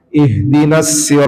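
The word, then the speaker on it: اهدنا: Nah, ih yang menjadi keliru adalah ketika dipantulin ih karena saking dalamnya jadi mantul. Ihatal mustaqim. itu salah eh sampai karena lepas harusnya ihdinasir yang penting muncul aja huruf H-nya itu enggak perlu didalemin sehingga memantul gu ih ikdinas nah ihdinas jadi dia mengalir saja siratal mustaqim nah huruf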